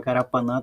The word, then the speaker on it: Carapanã: Então, a palavra Carapanã tem 4 sílabas aqui, Carapanã. Dessas 4 sílabas, a mais forte, a sílaba tônica, é o nã.